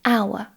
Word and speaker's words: hour: Again, there are some words which start with a consonant but which begin with a vowel sound. And these are mostly words which begin with a silent H. For example, an honor, an hour. Even though these words start with a consonant, an H, they start with an open vowel sound, ow.